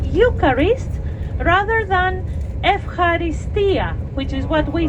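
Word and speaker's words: ευχαριστία: so if Harry stole the stress is supposed to go to the last syllable if it's possible I know it's not easy for Anglo-Saxons but for other people from other uh with other backgrounds and from other countries maybe it's a bit more easy than for Anglo-Saxons to put the emphasis on the last syllable like the Greeks do so if Harry Stone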